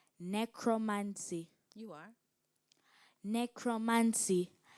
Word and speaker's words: necromancy: supposed communication with the Dead necromancy am I pronouncing the word right necromancy you are necromancy n e c r o